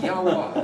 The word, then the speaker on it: Yahweh: So then how would you pronounce that? It would be very similar to the word spelled Yahweh. Yahweh.